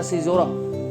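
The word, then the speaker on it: caesura: Okay, आगे है द सिजोरा। इसकी स्पेलिंग आप देखिए अलग है, लेकिन इसका प्रोनाउंसिएशन है सिजोरा।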